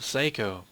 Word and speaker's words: Seiko: door to seiko's house oh no it's pronounced psyo but I'm going to keep calling her psycho I'm sorry to psycho's